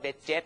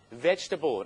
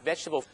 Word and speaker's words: vegetable: นะ ครับ เรา จะ ไม่ ออก เสียง ว่า veget หรือ ว่า veget เ นะ ครับ ผม 3 พยาง ง่าย ๆ ครับ Vegetable นะ ครับ Vegetable หรือ ผลไม้ ครับ น้ำ ผลไม้ ออน ุย ฝรั่ง